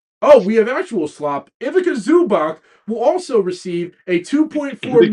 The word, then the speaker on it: Ivica Zubac: Ivica Zubac will also receive a $2.4 million trade kicker as a part of the deal.